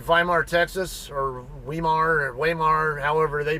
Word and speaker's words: Weimar: Texas or Weimar or waymar however they pronounce it it's it's a German word though vemar W's are pronounced like a v in German so that's why I